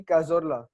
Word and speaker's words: Cazorla: It's Santi Cazorla. Ooh. Have I pronounced it correctly? Yep, correct.